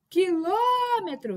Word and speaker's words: quilômetro: Quilômetro. Quilômetros, o lo é o nosso, é nossa sílaba tônica.